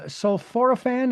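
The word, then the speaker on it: sulforaphane: Uh, of course we just talked about um uh sulforophane. That's how they pronounce that.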